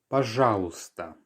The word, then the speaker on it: пожалуйста: Пожалуйста. Once again, пожалуйста. So we have another silent letter here. The y towards the end is not heard.